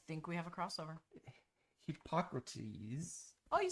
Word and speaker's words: Hippocrates: Hippocrates. Oh, you said it right. Hippocrates.